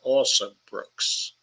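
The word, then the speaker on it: Alsobrooks: last night the county executive um um Angela also Brooks also Brooks is spelled just the way it sounds also Brooks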